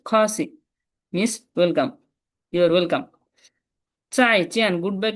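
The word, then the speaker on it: 再见: যেটার উচ্চারণ চ যার মতো হয়, কখনো চর মতো শোনে, কখনো জর মতো শোনে। চাই, চাই চিয়েন, চিয়েন, দুইটা কি ফোরটোন।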